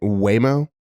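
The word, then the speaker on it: Waymo: over the place in Phoenix I could be mispronouncing it wayo w a y m o yep that's what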